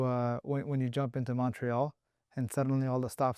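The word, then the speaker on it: Montréal: when you jump into Montreal and suddenly all the stop signs have become a you don't say the T. Yeah, the T is silent.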